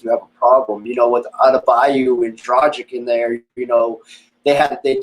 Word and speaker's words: Adebayo: I mean, I can't pronounce his last name, Abadajo or whatever it is. He's out again. Bam Adebayo. Yeah, Adebayo, and then they're missing their other big guy.